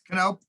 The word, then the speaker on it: Knopp: Knopp. Okay, you heard it here first, people. So now you actually know how to pronounce it.